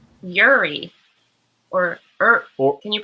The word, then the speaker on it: Uri: Okay, and it's Uri, or can you pronounce it for me one more time? Like Corey without the C.